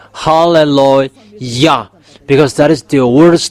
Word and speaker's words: hallelujah: book of Psalm there is the word saying halleluah because that is the words to glorify that it means to glorify that halleluah there is no one who saying hallelujah you No, they are wrong fans that people